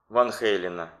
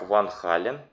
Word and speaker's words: Van Halen: Отец Ван Хейлена был классическим музыкантом, один из лучших кларнетистов в Европе, Ян Ван Хален, а голландцы именно произносят фамилию как Ван Хален, это американцы говорят Ван Хейлен.